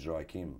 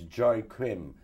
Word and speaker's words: Joaquim: the i tell them it's joy kim and they go oh it's joy crim or it's joe kim the thing is that's